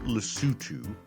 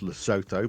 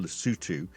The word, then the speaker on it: Lesotho: So, the small African country of Lutu, it's actually spelled like it's pronounced Loto, but it's pronounced Lutu, uh, makes most of its money from exports selling garments and diamonds to America.